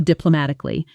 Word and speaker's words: diplomatically: Diplomatically, the stress lands firmly on ma, and the ending softens quickly, almost swallowed in fast speech.